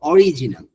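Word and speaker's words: original: বাংলাদেশের অধিকাংশ মানুষ এটাকে কি বলে জানেন? অরিজিনাল, অরিজিনাল। এটা হবে অরিজিনাল, বিকজ আর এর পর একটা আই আছে, অরিজিনাল, রাইট?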